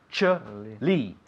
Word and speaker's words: actually: Actually, Actually, 3 sílabas. Tres sílabas. Actually.